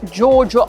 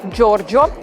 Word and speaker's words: Giorgio: again super italian guys not jojo armani no it's not correct giorgio armani there are two erem